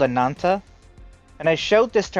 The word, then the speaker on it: Ananta: Well, how do you spell it? Ananta? A-N... Yeah, A-N-A-N-T-A. Ananta.